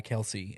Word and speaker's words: Kelce: Hill and some other you do not pronounce their name Kelsey Travis Kelce Jason Kelsey that's that's not their name it's Kels is it really m